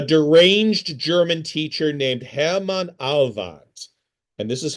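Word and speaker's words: Ahlwardt: of Germany, a deranged German teacher named Hammon Alvad, and this is how one spells his name, Ahl W Dt. A deranged German teacher named Hammon Alvat fantasized about a so-called Jewish world conspiracy and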